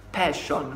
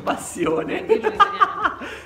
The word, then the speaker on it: Passione: Comunque, a parte le cagate, la reaction che faremo è a passion, no scherzo, passione. Ragazzi, passione, passione. Questa la è la passione. Vera pronuncia italiana.